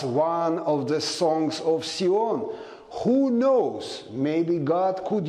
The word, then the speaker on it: Sion: I purposely removed Z and put S because the correct pronunciation is Sion, not Zion.